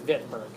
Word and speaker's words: Wittenberg: Okay, so I know it says Wittenberg. That's just how you say it. Germany is a V. Okay, it's Wittenberg.